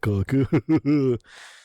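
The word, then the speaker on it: caulk: C A U L K, but it's it's pronounced the same. Uh, black coke.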